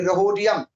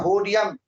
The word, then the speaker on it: Rhodium: होडियम H silent है, लेकिन pronunciation अपनी भाषा में अपने सीखने के लिए रहोडियम RHODIUM, लेकिन बोला जाता है होडियम R साइलेंट, RH सिंबल है।